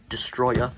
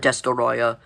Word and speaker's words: Destoroyah: We're gonna look at Destoroyah first, or Destroya. I call it Destoroyah. I don't care. That's how it's spelled.